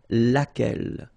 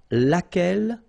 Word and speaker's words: laquelle: So basically same rule, Q-U, U is not pronounced here, and then you've got this double L-E, well, phonetically here, it is the same as what we have here, so laquelle.